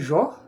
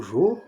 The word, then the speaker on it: Jó: Tirei lá de Jó ou Jô, dependendo da da pronúncia do da da região, né? São Paulo, Bahia, Rio Grande do Sul, dependendo é é Jó, é Jô, né?